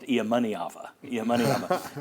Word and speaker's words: Iamaleava: There is some blowback from the Iamaeleava camp. And I'm messing that name up. It should be pronounced Iamaeleava.